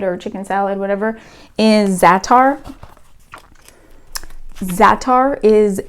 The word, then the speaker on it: za'atar: in egg salad or chicken salad, whatever, is za'atar. Za'atar is a, it's spelled Z-A''ATAR, za'atar.